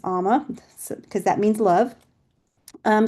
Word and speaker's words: Ama: And it's pronounced amma, not amma. It's amma because that means love.